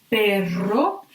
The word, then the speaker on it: perro: And then, if you want to make a strong sound here, for example, in perro, dog, you have to write two R's. So basically, these two R's here are pronounced like the R at the beginning, pretty strong.